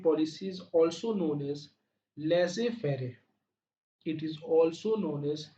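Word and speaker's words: laissez-faire: Similarly दोस्तों fourth point क्या हो सकता है कि free trade policy is also known as लेजे फेरे, इट is also known as लेजे फेरे। इसका स्पेलिंग यहाँ पे लिखा हुआ बोल्ड किया हुआ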